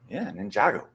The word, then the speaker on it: Ninjago: also, Ninjago. It's called Ninjago. Yeah. It's called Ninjago. Yeah. That's how we pronounce it here.